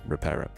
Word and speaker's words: Reparo: It reminds me of the Harry Potter spell that fixes everything, you know? Reparo. It's Reparo.